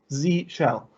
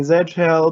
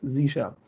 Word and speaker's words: Z shell: notes are there so z shell it's pronounced z shell which is obvious for the american listeners for the international ones they usually want to say zed hell but then the pun